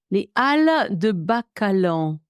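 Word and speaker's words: Halles de Bacalan: or b a c a l a n Al de Balon ah okay so this is in the town oh this is in bordeau al de Balon in bordo sorry I I should have recognized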